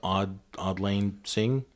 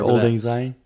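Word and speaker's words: Auld Lang Syne: And I can never pronounce the name of the song, but Odd Lane Sing? The Old Lang Syne?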